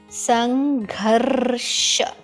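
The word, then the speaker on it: संघर्ष: This part, when you make a line, okay, like a C, yeah, okay, you pronounce the half R before that letter. So Sarva Swa. Sangharsha.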